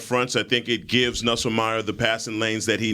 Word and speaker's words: Nussmeier: It's Nussmeier.